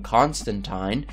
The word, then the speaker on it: Constantine: themselves were once in the possession of john constantine yes it is pronounced that way according to both neil gaiman